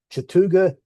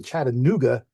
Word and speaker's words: Chattooga: You could tell the Yankees because they all mispronounced both halves of the names of the names on the short line. The short line is the Chattooga and Chickamauga, and most Yankees are calling it the Chattanooga, which is wrong, and